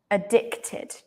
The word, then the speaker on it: addicted: so to be addicted addicted yeah this Ed is pronounced like ID addicted addicted yeah addicted